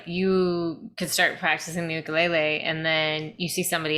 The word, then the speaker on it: ukulele: In fact, I should say that proper pronunciation, what I said is ukulele is ukulele.